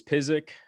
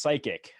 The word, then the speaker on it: Pysyk: open right up yeah some people think it's pronounced psychic except psychics because they